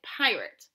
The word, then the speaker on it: pirate: We have words that are spelled with A-T-E at the end and pronounced it, like pirate.